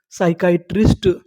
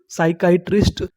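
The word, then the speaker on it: psychiatrist: आपको बता दूं अगर अगर आपको एस से पहले कभी पी लिखा मिले तो हम लोग पी का उच्चारण नहीं करते।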